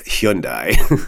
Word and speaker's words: Hyundai: assured me of the proper pronunciation of high-end I and it's Hyundai there you go in